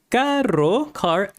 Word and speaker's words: caro: So caro expensive. So this can be a little hard to pronounce. So you need to learn to roll the RO expensive car. So that's the challenge right there. Rolling the R in this one.